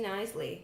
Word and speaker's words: Knisley: how to say it it's k k n i s l e y silent k yeah Tri me up